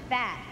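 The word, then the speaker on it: phat: fierce but fat that spelled p-h-a-t but pronounced fat really means something good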